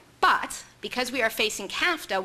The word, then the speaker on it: CAFTA: because we are facing CAFTA which rhymes with nafta which gives you a